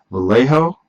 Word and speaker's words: Vallejo: We're using a Americana, we're using Citadel, we're using Vallejo.